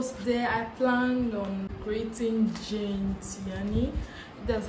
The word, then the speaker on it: Gene Tierney: So today I plan on creating Jane Tiani. That's how her name is pronounced.